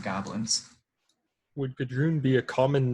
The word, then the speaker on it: Gudrun: And if he gave you a name, he probably gave you the name Gudrun. And would that mean anything to us? No. How do you spell that? G-U-N or G-U-D-R-U-U-N. Gudrun.